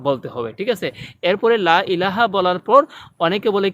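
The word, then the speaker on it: لا إله: কালিমা তাইবাতে অনেকে বলে লা ইলাহা। লা ইলাহা হচ্ছে ভুল শব্দ। সঠিক উচ্চারণ লাকে 3 আলিফ লম্বা করতে হবে।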